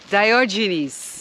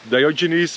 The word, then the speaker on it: Diogenes: a bit of background diogenes is a British pronunciation of a Greek name and it's a Greek